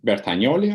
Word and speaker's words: Bertagnolli: the Italian pronunciation as bertanioli I believe so how do we pronounce it the G silent you got it yeah